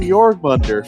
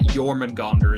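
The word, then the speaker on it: Jörmungandr: Well, to be fair, it's still scary because I mean, How about the fucking Jormungandr for a second?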